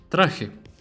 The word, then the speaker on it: traje: Traje. Now the J here sounds exactly like it sounded earlier. It's like a cat's hissing sound. It sounds like traje, traje.